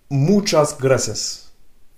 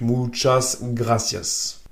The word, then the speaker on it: muchas gracias: espagnol ça se dit muchas gracias une deuxième fois muchas gracias muchas gracias si tu arrives pas à bien prononcer le r roulé utilise seulement le r français donc mas gracias ensuite tu aimerais avoir